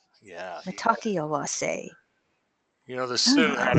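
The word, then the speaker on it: Mitákuye Oyás'iŋ: It is a wonderful word, expression by the Sioux Indian, but it's it kind of hard to pronounce, but it's Matakiawase. Matakiawase. Yeah. Matakiawase.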